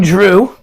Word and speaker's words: Zhu: of the show ping Drew it's spelled Zhu but it's pronounced just like just like my nickname for Andrew and Vince's middle name